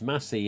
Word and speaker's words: Massey: me but it says it's it's messy as in sassy so anthony massey who did still screaming documentary in 2011.